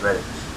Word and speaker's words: Redditch: Redditch or Redditch, like all one word, Redditch. Well, that's how I say it anyway.